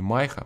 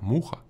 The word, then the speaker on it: MYHA: муха наверное да всё-таки Не майха муха Мухамед я думаю что